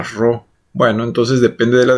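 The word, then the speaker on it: rho: con la letra Esta esta letra griega que no es una p sino se llama ro Bueno entonces depende de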